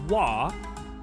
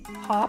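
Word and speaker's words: は: Despite being pronounced as wah, the ha particle is used.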